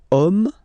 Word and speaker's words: homme: And then here we've got the word homme, man, okay? But then it starts with H, as in French, H is not pronounced, so the first sound that we hear is O, okay?